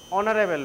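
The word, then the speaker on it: honourable: হচ্ছে জিনিসটা এটার উচ্চারণটা কি হবে কে বলবে অনারেবল ম্যান সেজন্য অনার উচ্চারণটা হবে অনার অনার মানে সম্মানী হবে কিনারেবল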